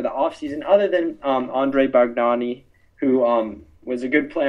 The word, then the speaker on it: Bargnani: Bargnani, there we go. It's spelled B-A-R-G-N-A-N.